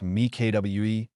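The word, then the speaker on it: mi-cuit: In France, physical therapists often recommend a technique called mikut, pronounced mikwe or halfcooked, to their older patients recovering from muscle loss.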